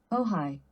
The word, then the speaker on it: Ojai: Let's figure out how to pronounce that. Oh, hi. Oh, hi. So, oh, hi. Never would have guessed that. Ojai, California.